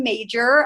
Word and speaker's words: Majcher: my name is major um I know it doesn't look like that's how my last name is pronounced but it is um I am very